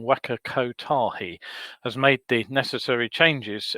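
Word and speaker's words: Waka Kotahi: takahi um has actually i just pronounced that wrong waka ko tahi has made the necessary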